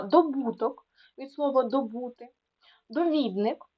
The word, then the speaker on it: довідник: добуток від слово добути довідник так не довідник а довідник тому що довідатися А зручний від слова